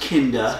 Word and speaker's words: Kinda: we discussed the 119th cereal of Doctor Who kinda looks like kinda but it's pronounced kinda and I'm trying to be talking about after